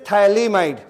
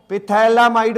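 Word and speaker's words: phthalimide: is this this is थलीमा इड ये क्या है थैला माइड पीटी ए पी आपका साइलेंट होता है ठीक है पिथला माइड बोल सकते हो लेकिन प क्या होता है साइलेंट तो इसको क्या बोलेंगे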